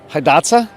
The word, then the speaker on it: Hidatsa: something that you didn't originally create is it pronounced Hidatsa correct yep so I'm looking at the Hidatsa red originally grown along the Missouri River Valley